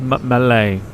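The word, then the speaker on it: Malé: M like M I'm going to go with Malay Malay sounds about right Brandon says maxo and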